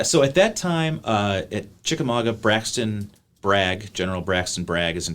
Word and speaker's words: Chickamauga: So talk about the Battle of Chickamauga. Am I pronouncing that right? Chickamauga.